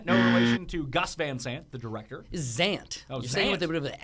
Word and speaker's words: VanZant: you but yeah page Van Zant they're not pronouncing it as a s it is a zed uh z z she's